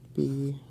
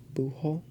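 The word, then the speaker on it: búho: So, B-U-J-O. And I think there's an accent on the U. So you have bujo, bujo.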